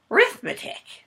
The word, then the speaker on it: arithmetic: say reading writing arithmetic even though arithmetic is spelled with an A rithmetic is the way they would say it so reading writing arithmetic